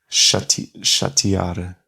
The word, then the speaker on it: chatear: mas aquele é lê-se como um I. Chatear. Chatear. Ah, mas parece que devia ser chatear.